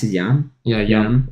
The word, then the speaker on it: Jan: Do you pronounce it Jan? Yeah, Jan.